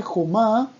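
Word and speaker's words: חומה: Y otra cosa muy interesante de esta palabra jomá, es que jomá, si decimos jumá, escuchen la diferencia. Jomá es muralla. Jomá, con O, con la vocal O.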